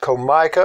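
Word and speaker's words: Comica: anyway the name of the product is Co mi CA and I'm sure that's pronounced Co Micah I'll leave a link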